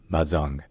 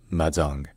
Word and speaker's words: Mahajanga: have to remember that the last n is barely pronounced it's maong maong all right if you